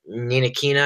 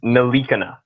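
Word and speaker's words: Ntilikina: We'll see what Ninakina, I think that's how you pronounce his name. No, it's Nalikina. I thought it was Nilakina. It's Nalikina, apparently.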